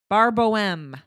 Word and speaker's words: Bar Boheme: Bar Boheme.